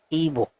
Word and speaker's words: Ibo: you guys are doing it is I B O but the pronunciation is ebo and that is how